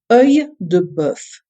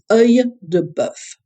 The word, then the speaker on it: œil de bœuf: Œil de bœuf. It has an interesting spelling and an interesting pronunciation. The e dans l'eau that we have means that the E is stuck to the O, and it produces a E sound.